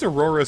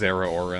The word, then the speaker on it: Zeraora: It's pronounced Zeraora in the...